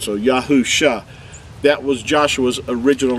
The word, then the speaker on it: Yahusha: would say the the mashi the messiah's name pronounced as yahu shah is the way you would pronounce his name